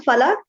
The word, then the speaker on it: Falak: Very well, good pronunciation of my name. Hi, I'm Falak.